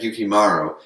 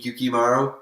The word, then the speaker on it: Yukimaru: he looks over at yukimaru and says and apparently you do pronounce the gene yukimaru it's not yukimaru like i previously thought so correction there he